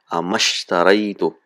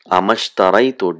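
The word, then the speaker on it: أما اشتريت: When there is letter in front of it, we don't pronounce the sound. So now how do we say this? Amashtaraitu.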